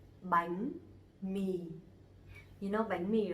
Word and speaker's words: bánh mì: The name of the letter is bờ, but actually you pronounce the same, okay? Like B. In examples, bánh mì, bánh mì.